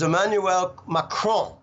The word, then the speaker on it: Emmanuel Macron: out of 200 kids so the way you pronounce it is Emmanuel macron okay Makran won the rigged farcical corrupt election